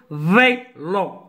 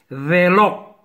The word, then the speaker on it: vélo: يعني هنا يا ميتان برينقول ما تنقولش vélo. Non, vélo. C'est un accent aigu. ماشي accent grave. ميتا تكون grave غادي نورك غادي نقول vélo. ولكن هنا عندنا accent aigu. E avec accent aigu se prononce vélo.